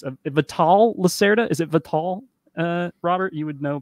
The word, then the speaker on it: Vital: vital lacerda is it vital uh robert you would know probably better than me i think the yeah like the english pronunciation i think the portuguese would be like vital or something but people